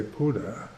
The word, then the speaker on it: Buddha: let go to pluto which is the way the thais pronounce buddha they say puda so you know if